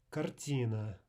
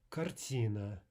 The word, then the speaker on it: картина: But start with the basics, start with the double T in butter, and try at all costs to avoid English R.